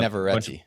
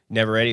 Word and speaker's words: Navarrete: Uh, cast is Michael Johnston, India Navarrete I think I'm pronouncing it right. And Navarrete. Navarrete.